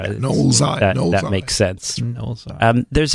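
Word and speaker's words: knowlesi: And I used to pronounce this Nolesi, but as we know, this was named after a gentleman. Nolesi. And so, right. Knowles. So, Knowles, you know. Yeah, Nolesi.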